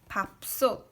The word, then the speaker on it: 밥솥: Because 비읍, B plus A is A, and 받침, 비읍 ending consonant, 비읍 is B. 밥, 밥, and then 시옷, S, plus O is O, 티읕 is, it pronounce D. Ending consonant, 티읕, 받침, 티읕은 D로 소리 납니다. So this is 밥솥, 밥솥.